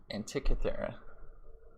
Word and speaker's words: Antikythera: Dude, how do you pronounce this team name? Antikythera.